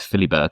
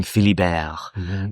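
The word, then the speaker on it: Philibert: Um I realized now that is how you pronounce it because I was thinking it was Philly but it's French isn't it? Um Philly Bear.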